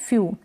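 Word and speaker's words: few: फिर ये है ई डब्ल्यू को यानी ऊ यानी बड़े ऊ की मात्रा के रूप में प्रोनाउंस करते हैं और यू के रूप में भी इसको पढ़ते हैं।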